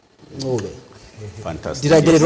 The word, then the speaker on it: Ncube: Actually, the right way to pronounce it is Ncube.